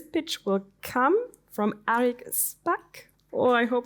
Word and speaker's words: Shpak: This pitch will come from Arik Shpak. Oh, I hope it's correctly pronounced.